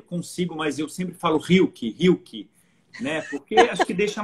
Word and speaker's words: Rilke: Assim, Rilke, né? Rilke. É um R que, para eu dizer, eu que aprendi a falar alemão já, enfim, com todo o meu aparato vocal pronto, eu preciso pensar para pronunciar, né? Porque se você diz Rilke, tudo bem, aqui todo mundo conhece Goethe, embora seja Goethe, né? Mas na Alemanha as pessoas vão ter dificuldade de saber de quem se trata, né?